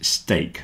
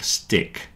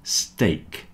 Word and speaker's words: steak: steak rhyme with cake remember this is steak not stick it's steak the same as cake break steak cake heart